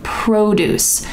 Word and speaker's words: produce: pronunciation of that word produce the emphasis is at the beginning produce produce there's another word which is